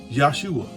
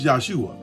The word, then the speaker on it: Yahshua: See, Jesus, and the way we pronounce it, actually the way it's actually pronounced is Jesus is actually pronounced Yahshua. Yahshua had a moment there. It's Yahshua.